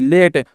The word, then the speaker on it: late: उसके बाद देखिए LATE लेट, तो एल से ल और ए से एक की मात्रा, टी से ट, तो लेट है ना, ई साइलेंट होता है, ठीक ना।